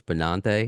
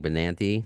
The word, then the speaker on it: Benante: So, it's Bonante and I've been saying Bonanti. Like, I say it like a Long Islander.